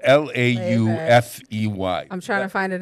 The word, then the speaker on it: Laufey: Her name is spelled L-A-U-F-E-Y. I'm trying to find it in the notes here. Laufey.